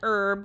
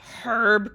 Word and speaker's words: herb: An herb garden or is it a herb garden? I always wonder if I'm saying that wrong. I'm pretty sure the H is silent, but I I don't know.